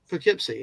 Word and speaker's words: Poughkeepsie: Poughkeepsie, yeah.